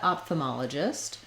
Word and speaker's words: ophthalmologist: In both pronunciations, the rhythm of the word is the same, and the main stress is on the ma syllable.